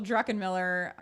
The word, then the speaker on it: Druckenmiller: people can find it so it's d r u c k e n m i l l e r pronounced druckenmiller and unmuted life is